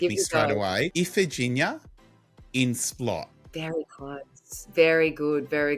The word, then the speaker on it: Iphigenia In Splott: Iphigenia In Splott. Very close. Very good. Very close. So Iphigenia In Splott.